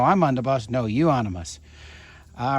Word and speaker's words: Euonymus: No, Euonymus. All right, so that's how this is pronounced.